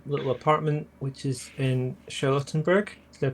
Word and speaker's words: Charlottenburg: So she's going to take that back to her little apartment, which is in Charlottenburg. Did I pronounce that right?